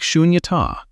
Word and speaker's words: Śūnyatā: Say it like Śūnyatā, emptiness.